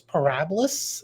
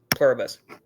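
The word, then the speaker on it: Pluribus: Yeah, I have I have The Pit, Severance, White Lotus, Parabus. Is that how you say it? Plurabus.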